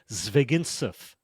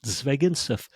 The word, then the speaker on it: Zvegintzov: Zvegintzov. Technically, if my Russian father heard me say that, he would say Zvegintsov. So that's really Zvegintsov. Phonetically, keep it simple. Zvegintsov.